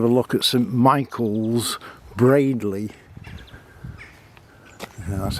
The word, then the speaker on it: Baddiley: here to have a look at St Michaels Bradley that's how you pronounce it not a very big church and